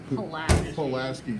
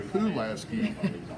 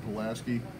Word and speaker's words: Pulaski: the Bluebird Cafe and Pulaski she's doing very good she was saying the food Lasky that is not the right pronunciation so she's gonna be